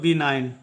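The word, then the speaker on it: benign: क्या हो जाएगा साइलेंट हो जाएगा और इसका उच्चारण करेंगे हम लोग बी नाइन बनान का मतलब होता है अनुकूल बनान का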